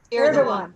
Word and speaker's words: Erdogan: Erdogan. Thank you. I knew I didn't. Yeah, say don't pronounce the G.